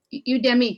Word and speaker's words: Udemy: your classes on and how do you say eudemy you demi yes well i i probably